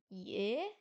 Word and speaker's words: 也: C'est un petit troisième ton, donc ça fait ye, ye, yeah, ok merci. Également aussi, après le Y ou le I, le E se prononce E en français.